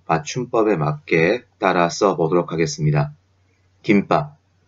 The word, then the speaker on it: 김밥: 김밥. 읽을 때는 김밥이라고 읽지만 쓸 때에는 김 그리고 밥을 유지하게 됩니다.